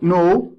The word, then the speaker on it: know: and the the verb no okay k is silent here we don't say no we say no becomes a new okay